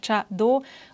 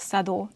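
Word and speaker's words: 茶道: describe this art form: Cha-Do, which literally means the way of tea. It can be pronounced as Chado and as Sado as well.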